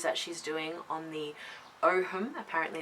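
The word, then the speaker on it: Ogham: fantastic um series that she's doing on the Oham apparently it's pronounced um so that's really fantastic too and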